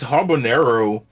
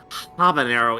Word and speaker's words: habanero: So I got this habanero noodles. Lord have. I'm just sorry to correct you here, but it's not habanero. It's pronounced habanero. The H is silent.